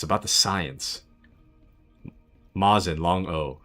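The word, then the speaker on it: Mosin: Mazin, long O. And yes, it's Russian.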